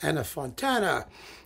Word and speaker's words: Anna Fontana: They're Anna Fontana, it rhymes, and Dirk Berner.